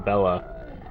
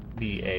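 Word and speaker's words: Béla: I I've been calling him Bella, but it's Ba.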